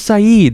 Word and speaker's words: Saeed: said that's rude why his name's saeed but that's really cool that it's spelled said can you stop making